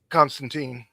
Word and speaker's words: Constantine: Uh, Constantine. No, it's Constantine. He says it in the comic. It rhymes with Pine.